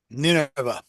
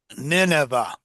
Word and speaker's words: Nineveh: Nineveh. Repeat? Nineveh. Nineveh. Yeah. So he went to preach to Nineveh. y Nínive era una ciudad, Nineveh sí, was a city, sí, y los asirios eran un pueblo guerrero y cruel.